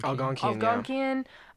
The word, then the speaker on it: Algonquian: Northeast what's the proper way to say it? Algonquian. Algonquian.